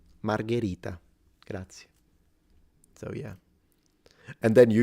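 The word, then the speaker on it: Margherita: how to pronounce it they call it Margarita that's a drink and it's this like this pizza expert and you can't even pronounce it I don't know if you I'm going to trust you you know it's not Margarita that's the pizza margarita gra so yeah and then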